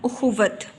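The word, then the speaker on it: اخوت: यानी उख़ुवत, वाव खे के साथ भी बोला गया और वाव की अलग से आवाज़ भी आई और वाव के ऊपर हमने ज़बर लगा दी, तो ये लफ्ज़ बन गया उख़ुवत।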